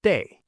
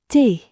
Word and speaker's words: thé: The word for tea is thé. Thé. Thé. Pause and repeat. It sounds like the thé in Taylor Swift.